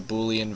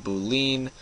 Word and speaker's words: Boolean: new variable it's a Boolean variable uh in my past videos I've been saying Boolean it is in fact Boolean um I was wrong